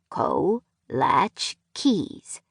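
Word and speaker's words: kołaczki: He used them as a conversation piece with gallery customers and art league members, instructing them in the pronunciation of the delicacy. Co latch keys, he would say slowly.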